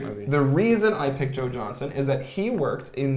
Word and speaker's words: Joe Johnston: But there is a director named Joe Johnson. It's spelled Joe Johnston, which I always pronounced Joe Johnson.